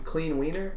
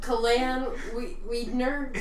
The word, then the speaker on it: Kalan Wiedner: and they called him Clean Wiener, and so that's a, Seriously? it was just a very funny mispronunciation. it mispronunciation. was Kalan Wiedner, but it sounded like Clean Wiener.